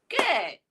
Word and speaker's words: good: I too always make the mistake of saying good. You know, I tend to like say the long u into a long u sound. So it should be good.